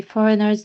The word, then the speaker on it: foreigners: to try and keep foreigners foreigners the G here is silent we say foreigners not for for forers